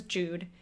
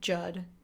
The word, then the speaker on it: Jude: school whose name was Jude, and the teacher pronounced it Judd. I was like, what the fuck? There's clearly an E there.